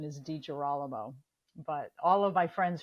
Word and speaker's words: DiGirolamo: now on to the podcast all right Dr dijir Alamo um did I even come close Carla to